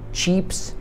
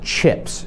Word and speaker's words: chips: jak Laysy albo coś po angielsku co są ciepse po prostu cieps to nie jest czips to jest czieps sieps i oczywiście też jest